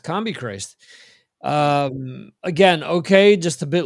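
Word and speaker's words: Combichrist: Combi Christ released a double album, which is CMB CRST, which is pretty much pronounced Combi Christ.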